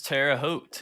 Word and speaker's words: Terre Haute: how to say this is it terra haute it is terre haute yes wow what state is